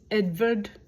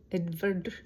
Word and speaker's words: Edward: was, I guess Edvard would be how it would be. Edvard, something like that. I know the W's are pronounced as V's in German.